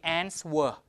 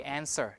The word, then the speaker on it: answer: that okay so here you don't say answer you say answer W is subject to delete deletion okay and deletion also